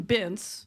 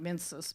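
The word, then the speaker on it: Binz: A man named Ron Bintz, not Mincis, but his name is spelled like yours.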